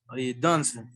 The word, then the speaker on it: doesn't: the pronunciation, this is don't, doesn't. Doesn't, yes, the E is silent.